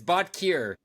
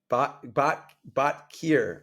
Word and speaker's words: Botkier: So everyone on their own is going to decide how to pronounce the name I'm of going to this. say it. It's Botkier. Botkier.